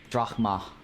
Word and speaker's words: Drachma: The ch sounds like a K. Dmas. Dramas. Drachma.